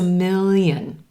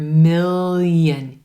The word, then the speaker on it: million: a million thanks a million notice on that word million yen do you hear that little y sound at the beginning of the second syllable million thanks a million you can also state